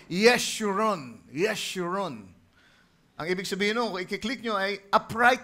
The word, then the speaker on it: Jeshurun: Yung pangalang Jeshurun, ang bigkas dyan talaga ay Yeshurun.